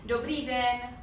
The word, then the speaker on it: dobrý den: We say dobrý den. Good morning or good day? It's good day. Good day. Again? Dobrý den. Dobrý den.